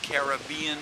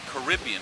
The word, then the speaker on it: Caribbean: the ocean that is the the Caribbean Sea or the Caribbean Sea depending on how you want to pronounce it uh behind me